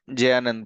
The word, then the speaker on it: Jayanand: So sorry, I was pronouncing his name incorrectly. It's Jayanand Prabhu.